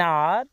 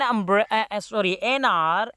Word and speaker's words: hour: But because their H is silent and their pronunciation starts with the vowel sound, therefore we use N before them.